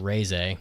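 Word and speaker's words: Reze: So, anyway, Chainsaw Man movie, the Rize arc, actually pronounced Reize. You guys had me saying Rize the whole time because you guys talked about this the entire time we were in Japan. It's Reize.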